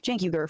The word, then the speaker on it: Cenk: uh Jank comes in Jank comes in um I always want to say his name wrong because it starts with a C I'm I'm not good